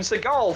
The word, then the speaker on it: Seagal: At this point, if you're going to do them, I should just do Steven Seagal facts. Fact 1, his name is actually pronounced Steven Seagal.